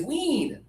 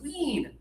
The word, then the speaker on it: wean: very easy to pronounce, wean. Yeah. So the system is the double vowel EA or EE usually means it's high tongue and just a little air.